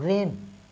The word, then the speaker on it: reign: और रेन, REIGN, रेन। रेन मतलब होता है शासन करना।